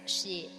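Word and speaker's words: 死: kanji for death right it's she and then and also like the number four both pronounced as she yeah so it's just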